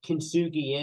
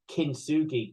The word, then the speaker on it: kintsugi: Kintsugi is that you're defined by mistakes you've made, the breaks, the traumas in your life, everything like that.